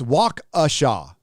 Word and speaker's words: Waukesha: It's Waukesha. That's how it's pronounced by the locals.